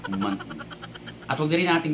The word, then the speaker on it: muntin: So it is basically what we call a muntin. Muntin. It's M-U-N-T-I-N. Muntin or muntin, okay, if you want to pronounce the T.